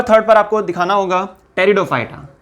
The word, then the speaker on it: टेरिडोफाइटा: Number third पर आपको दिखाना होगा टेरिडोफाइटा। ये नंबर थर्ड कैटेगरी है, पी यहां पर साइलेंट होता है।